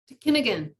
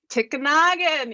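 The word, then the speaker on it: tikinagan: Kinnigan, yeah? Kinnigan. Close. You got the wrong emphasis on the wrong syllable. Tikanagan? What? Tikanagan. Who was that? Tikanagan.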